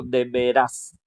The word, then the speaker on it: deberás: La pronunciación es diferente. Ese dice de veras y el otro deberás.